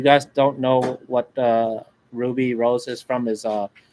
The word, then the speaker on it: RWBY: uh confident yeah R RWBY it's pronounced Ruby yep and there's multiple